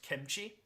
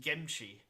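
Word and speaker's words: 김치: And this also happened in Korean, where occasionally in English you will have the word kimchi, but I believe in Korean it's pronounced gimchi.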